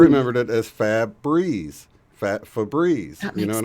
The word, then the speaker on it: Febreze: So the going thought now is that Febreze went from Febreeze, as in Feb breeze, spelled like we spell breeze, and one of the E's left the end of it. So it's not breeze anymore, it's Breze. Right?